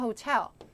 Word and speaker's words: hotel: hotel 우리 호텔에 갔어요 호텔 할 때도 강세 어딘지 보세요 여들 호텔이에요 대부분 앞에 주시는데 그럼 영어로 인지가 안 돼요 아예 강세 음절은 틀리면 안 돼요여 절대로요 호텔 아니고 텔 텔 뒤에 이죠 해보세요 면돼 뒤쪽에 두 번째